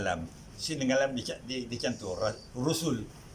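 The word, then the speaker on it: رُسُل: Rusul. Bukan Rasul, bukan Risul, jumlahnya Rusul.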